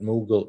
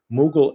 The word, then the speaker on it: Mughal: Which of these or any other word would you like me to help you pronounce? Mughal India. Okay, I got it. Mughal India.